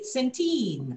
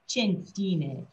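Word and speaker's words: Chianti: emphasis on the chuck the ca is like you know we'd say centine a lot of people say and then you go no in italian it's chine so we like to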